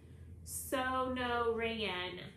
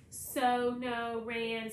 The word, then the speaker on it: Sonoran: the sanchro boy snickers so no reyen that pronounces the word slowly it's the name of the desert around where i lived in tucson so no rain snow a ring frankie